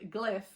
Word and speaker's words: Glyph: This is also the first in a duology, so the second book in this series is called Gliff, but it's spelled Glyph, so like a hieroglyph, right?